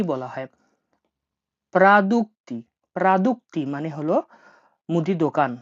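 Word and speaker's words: продукты: প্রাদুক্তি। প্রাদুক্তি মানে হলো মুদি দোকান। আমি রাশিয়ানটা ভেঙে দিচ্ছি দেখুন। এটা PRA, প্রা, DUK, দুক, TY, প্রাদুক্তি।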